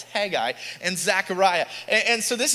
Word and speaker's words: Haggai: I say Haggai, it's Haggai and Zechariah, and so this is where we